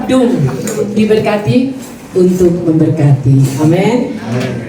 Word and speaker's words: DUM: Jadi enggak bukan D dibacanya tetap Doom diberkati untuk memberkati.